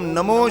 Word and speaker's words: नमः: ओम नमो शिवाय, ओम नमो शिवाय नहीं, नमो नहीं, नमः।